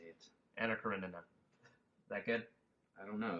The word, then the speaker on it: Anna Karenina: I always thought it was Anna Karina, but there's an extra. There is N an extra. There's an extra N in there, and it trips you up.